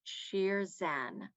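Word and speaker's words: شیرزن: in persian or farsi that is pronounced sheer zen sheer zen and sheer zan is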